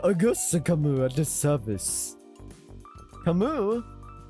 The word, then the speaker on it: Camus: Camus! Augusta Camus at the service. Camus? No, Camus! Camus is right! You've been saying it wrong, Ishmael. Obviously, it's Camus.